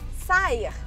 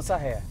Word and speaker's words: Saher: dúvida enorme, porque assim, Sayer é a forma que você usa artisticamente seu nome, uhum, certo? Mas, gente, eu tava, né, fazendo uma pesquisa, conversei com, e a pronúncia do nome dele é Sarrer, é isso? Isso, Sarrer.